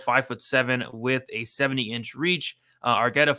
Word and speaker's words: Argueta: How do you pronounce his last name? Argueta.